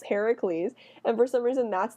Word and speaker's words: Heracles: that literally the name Hercules came from the fact that the Romans couldn't pronounce his actual name his name was Heracles with a k and not Hercules Heracles but the Etruscans had